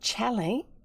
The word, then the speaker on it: Challie: So Challie would be how it would be pronounced. And it would probably originally have been spelt Challis, and it would be French, and it would be one of those, they often drop the trailing consonant.